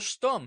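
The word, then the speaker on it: Stumm: grin why is Colonel stum he cried he pronounced it like the first syllable in stomach very pleased to meet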